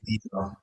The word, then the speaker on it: Guido: If you say Guido, there's no problem. But Okay. actually, you pronounce the U, so Sorry. it's Guido.